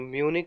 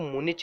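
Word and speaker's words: Munich: जो म्यूनिक है, आपको मुनिच नहीं पढ़ना है, वैसे इस शहर का नाम है म्यूनिक, राइट, सही प्रोनाउंसिएशन है म्यूनिक।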